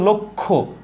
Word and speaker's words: লক্ষ্য: আমরা উচ্চারণ করি হচ্ছে লক্ষ্য, খো, এ হচ্ছে লক্ষ্য।